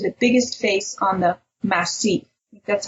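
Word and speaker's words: massif: straight up to the biggest face on the masse that's how you say it from there to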